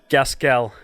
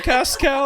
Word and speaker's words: Gaskell: Gaskell. Well, Cascal? that's the Filipino way to pronounce it.